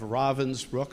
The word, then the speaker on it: Ravensbrück: and The Sisterhood of Ravensbrück, I learned tonight, by the way, that's the pronunciation, Ravensbrück, are three of the best books I've ever read in my life.